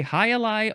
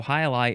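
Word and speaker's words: jai alai: It's spelled Fronton, noun from 1896. It is a Highlight arena.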